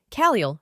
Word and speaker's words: Caliel: Name, Caliel, pronounced Caliel.